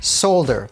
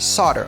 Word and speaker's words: solder: it should be pronounced solder like sold her but actually it's pronounced solder like sawed her get it and the